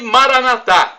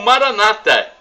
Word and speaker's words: Maranatha: bem ele providenciará e Maranatha como dizemos nosso católicos ou Maranata com a tônica na penúltima sílaba como dizem nossos irmãos separados nos evangélicos ou protestantes são nossos